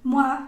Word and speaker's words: moi: Entonces, una primera nube o familia de palabras es todo lo que tenga todo lo que tenga OI, que se va a pronunciar como UA, moi, toi.